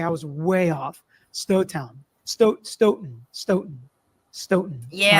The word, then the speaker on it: Stoughton: I, First video on Sandra Birchmore, and now we know how to say a Stoughton.